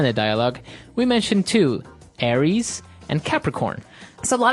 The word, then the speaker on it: Aries: Greek mythology that's right and uh so it's pronounced Aries Aries a-r-i-e-s Aries that's right and the other one